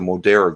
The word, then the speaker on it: Moderna: Moderna.